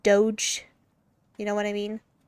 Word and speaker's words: Doge: That's how people spell it when they're trying to say Doge. Like dog but Doge.